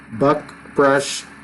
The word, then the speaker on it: Buckbrush: And I'll say it right, Buckbrush Fishing Guides. No G in there.